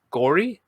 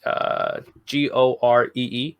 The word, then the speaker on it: Goree: Okay, she worked with somebody named I'm hoping I'm pronouncing this right. Eli, it's Gore. It's Goree, and he played.